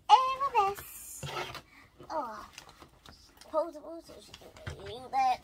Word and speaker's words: arabesque: It's Arabesque.